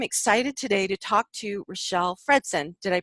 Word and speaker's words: Richelle Fredson: And I am excited today to talk to Richelle Fredson. Did I pronounce that right?